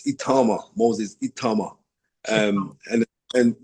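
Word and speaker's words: Itauma: So um the corre correct pronunciation of your name is Itama. It's Itama.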